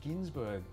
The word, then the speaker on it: Gunsberg: to pronounce my surname no it's Ginsburg yeah it's see you with an umlaut you did should have